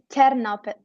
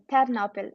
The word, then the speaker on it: Ternopil: Yeah, What's the pronunciation of that? it's Ternopil. Ternopil.